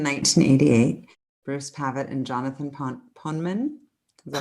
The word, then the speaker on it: Poneman: Bruce Pavitt and Jonathan Poneman. Is that how you say it? Poneman. Poneman.